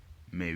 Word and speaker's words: mais: Mais oui. In the word mais, AI again produces the air sound. Remember, the S at the end is silent.